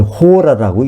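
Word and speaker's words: ὥρα: hour이라고 쓰고, h가 묵음이 돼가지고, 그냥 우리는 hour라고 읽는데, 헬라어에 h 발음이 있습니다. 그죠? 그래서 이걸 호라라고 읽습니다. 잠깐 그 전에, 그럼 어떻게 빌라델피아 교회가 시험을 면할까요?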